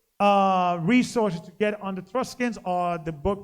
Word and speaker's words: Etruscans: Give me Etruscans. Etruscans, right? Pronouncing it right? Etruscans. Yep. Yeah, Etruscans. They existed.